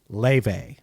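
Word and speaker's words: Laufey: Yeah, it's pronounced Le.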